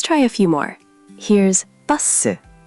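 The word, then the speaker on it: 버스: Here's buh-suh. Buh-suh. Buh-suh. Perfect pronunciation.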